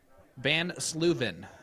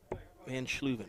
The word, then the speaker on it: Van Sluven: Van Sluven is how you pronounce her last name. Van Sluven, okay.